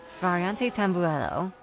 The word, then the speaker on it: Variante Tamburello: the bend is technically considered T1, is the Variante Tamburello. There we go. That's how you say it, I think. Variante Tamburello.